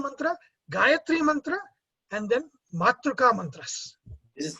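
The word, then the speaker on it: Matṛ: So in Sanskrit, Matru is speech, but it is mispronounced in Kannada as Matu.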